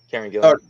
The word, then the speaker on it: Kieran Gillen: Kieran Gillen? Yep. Kieran Gillen.